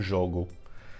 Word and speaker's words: jogo: juego, and then in Portuguese I say un jogo.